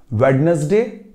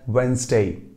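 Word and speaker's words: Wednesday: भी आप बोलना चाहें we call that वेंसडे वेंसडे ना कि वेडनेसडे कई लोग वेनसडे भी बोलते हैं उन्हें लगा कि डी साइलेंट है तो वो डी हटाकर वेनसडे वेडनेसडे वो वेनसडे नहीं होता दैट इज वेंसडे मान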